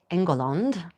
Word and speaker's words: England: Specifically, this one is 1430 engul as it would have been pronounced in the 15th century.